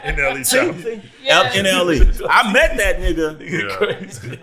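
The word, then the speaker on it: NLE Choppa: You know who did that with me, and because he recognized who I was, is NEL Chopper. NLE, right? I'm saying it right. NLE Chopper.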